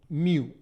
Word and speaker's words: mu: of friction which is denoted by the symbol mu so it's pronounced as Mu this is the symbol that